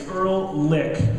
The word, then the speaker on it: Ehrlich: Then we have Ehrlich, and that's how we pronounce her last name. It's Ehrlich.